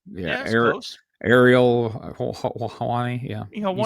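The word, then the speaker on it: Ariel Helwani: This was all during I can't pronounce the dude's name. I'm not even going to try. Former UFC guy, Errol Hawani. Is that right? Yeah. That's close. Ariel Hawani.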